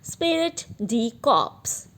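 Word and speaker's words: esprit de corps: is spirit G crops I am repeating the pronounciation is silent here spirit D cops which means managers should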